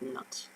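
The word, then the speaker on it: knots: so how many cannots are there in a circle you're always going to pronounce that word is nuts i know because in theory the case should be silent and we've got our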